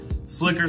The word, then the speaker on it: SLCKR: out to my guys and check how to pronounce this obviously guys it is s l c k r slicker slacker i wasn't really sure guys it is slicker